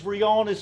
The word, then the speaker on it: Rihanna: __ ] rage versus Rihanna's face the first stop is pronounced Rihanna that's a fact and second my girlfriend's